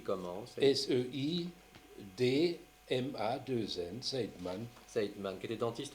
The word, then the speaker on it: Seidman: Seidman, ça s'écrit comment? S-E-I-D-M-A-2-N, Seidman.